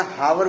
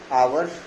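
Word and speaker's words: hour: तो हम इसे एन बहुत सारे लोग इसे एन आवर बोलते हैं या आवर बोलते हैं या हावर बोलते हैं तो इसका करेक्ट प्रोनसिएशन है आवर एंड we will put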